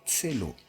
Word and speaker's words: Celo: en mai 2020 et son nom c'est l'eau se prononce ces lots et signifie but en